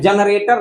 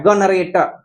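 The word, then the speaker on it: generator: तो देखिए कितना अजीब लग रहा है, गनरेटर, जनरेटर के जगह गनरेटर हम पढ़ रहे हैं, यानी जो का जी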